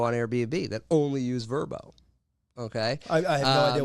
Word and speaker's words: Vrbo: Vrbo, most people call it VRBO, but it's pronounced Vrbo.